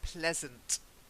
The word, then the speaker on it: pleasant: although we've got please this isn't please this is pleasant present that's it like peasant I'm a peasant